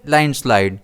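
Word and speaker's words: landslide: इसे हम प्रोनाउंस करेंगे लाइन स्लाइड। इसमें स्ट्रेस एल पर रहेगा।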